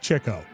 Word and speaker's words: Chico: His name should be pronounced Chico. Uh that's how they did it. But okay, I my entire life have called him Chico, which I guess is what the Spanish pronunciation.